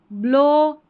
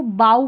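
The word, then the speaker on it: bow: फिर देखें shadow, to, ब्लो, एल्बो, मो, लो। अब यहाँ पर कुछ और स्पेलिंग्स है ओ डब्ल्यू की, देखिए स्लो, यह है सौरो, तो ओ डब्ल्यू का ओ।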